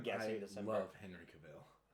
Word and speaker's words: Cavill: I love Henry Cavill. It's Cavill. No, he pronounces it Cavill.